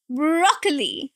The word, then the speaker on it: broccoli: Broccoli. Three syllables. And the stress here is on the first one. Broccoli. Broccoli. Not curly. Do not say o again. It's aw sound.